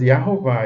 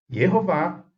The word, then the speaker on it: Yehová: E a gente sabe que essas escritas Yahová, Yahoshua e Yahshua, elas não estão corretas dentro da língua hebraica. O hebraico preservou as pronúncias e as escritas claramente como Yehová, Yehoshua e Yeshua, não é?